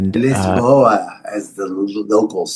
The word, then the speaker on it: Lisboa: Well, I think since you are now in Lisbon, Portugal and Lisboa, as the locals say, Lisboa.